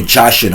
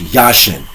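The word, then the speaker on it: Jachin: And I specifically say Yasin because they will say Jashin and Boaz because it has a J. But you have to understand in the Hebrew dialect, the J is silent. So it's pronounced Yashin and Boaz, which literally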